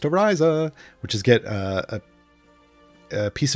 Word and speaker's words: Ariza: It's pronounced Ariza, which is get a piece of gear in each of her equipment slots.